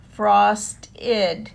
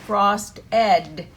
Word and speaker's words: frosted: of the word, frost, and we add ed, id, frost-id. And a lot of times kids will try to say frost-ed, and that's not how it's pronounced.